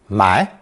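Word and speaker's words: 霾: animal partially obscuring it also pronounced second tone my this character refers to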